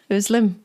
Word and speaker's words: Özlem: name is and my guest today y petroni did I pronounce that well llim yes you did llim is from turkey and